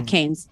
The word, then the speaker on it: Keynes: Coming in from the legend, Riv says, don't read one economic philosophy side of Marx and Keynes. Am I pronouncing it right? Says, yeah, Keynes.